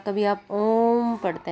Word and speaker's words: ओम: तो ओ का उच्चारण एक बार यहाँ हो गया और 2 बार इसका उच्चारण और करना है। इसका मतलब ये है कि ओ को हमें टोटल 3 बार पढ़ना है, ओम, तब ये ओम बनता है।